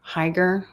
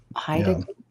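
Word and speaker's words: Heidegger: What did I even pronounce that name Higer? Hideiger. Haidiger mean by only God can save us.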